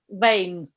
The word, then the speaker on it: vein: Vein. Vein. Vein. Vein, like a vein in my arm. V-A-N-E. Okay, like a weather vane. It's the same pronunciation.